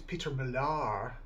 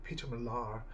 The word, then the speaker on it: Peter Millar: so hopefully I think it's Peter Millar that's how they pronounce it allegedly Peter Millar uh will be designing